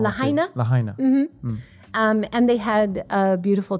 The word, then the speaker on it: Lahaina: Kalauna? What was the name of the town? Kalauna? Maybe I pronounced it wrong. Lahaina? Lahaina.